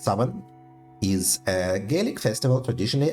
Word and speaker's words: Samhain: Samhain, approximately pronounced Saman, is a Gaelic festival